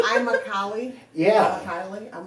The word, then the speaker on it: Immokalee: Immokalee, that one gets butchered a lot. A lot. What have you heard lately? Amalek or whatever, like it doesn't even Amalek? line up. It's Amalek like- it's what? like- Right. I'm a Cali.